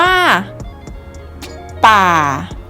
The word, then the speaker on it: ป่า: ป๋า คำ ที่ 3 คำ ที่ 3 จะ ประกอบ ไป ด้วย ปอ อาร์ อาร์ บวก เสียง วรรณยุกต์ ที่ 3 เสียง วรรณยุกต์ ที่ 3 คือ ไม้ เอก นั่น เอง ค่ะ คำ นี้ จะ อ่าน ออก เสียง ว่า ป่า ป่า ป่า นัก เรียน ลง